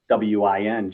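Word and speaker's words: McElwain: So it's like McDonald's, but instead of McDonald's, it's McElwin. So it's McElwin.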